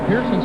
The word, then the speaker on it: Pearson: No, he had to back off, but that was a big advantage for Larry Pearson.